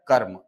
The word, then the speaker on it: कर्म: म पर, और यहां से शब्द बनता है कर्म, ऐसा। ठीक है, इसका मतलब सर, इसका मतलब ये हुआ कि जहां पर भी ये लगा हुआ है, इसका उच्चारण इस व्यंजन वर्ण के पहले होगा।